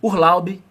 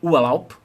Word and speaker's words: Urlaub: estar com a pronúncia errada, porque você vai pronunciar com a cabeça de um brasileiro ou brasileira, percebe? Então você vai falar assim, Urlaub, em vez de falar Urlaub, na palavra férias, und, em vez de falar und.